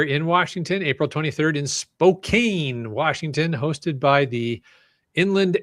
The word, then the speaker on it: Spokane: April 25th in that Spokane, Washington hosted by Cruising for Cache. Very fun. I'm sorry, I just really enjoy pronouncing I know it's Spokane, but I love pronouncing it Spokane. It's Spokenay. Spokenay.